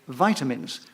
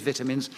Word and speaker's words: vitamins: subject now is vitamins, or as some people used to say, vitamins, which is the correct pronunciation, because it comes from the word vitality.